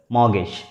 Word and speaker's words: mortgage: In this word, the alphabet P is silent and it is pronounced as mortgage.